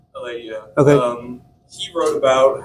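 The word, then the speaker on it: Eliade: We're somewhat butcher his name pronunciation wise. Marcia Eliada? Eladia.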